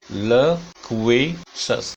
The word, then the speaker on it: loquacious: Synonyms are talkative, loquacious, ये pronunciation है, देखिए, loquacious, loquacious, loquacious, का पे स्ट्रेस है, ल क पे ऊपर जाएगी आवाज, loquacious, loquacious।